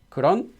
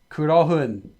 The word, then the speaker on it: 그런: It just so happens it's not pronounced as 그러흔.